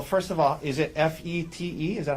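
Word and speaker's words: Fête: Tell us, well, first of all, is it F-E-T-E? Is that how you spell it? Yes, this first E has a circumflex over it. Okay. So, But it's pronounced Fete.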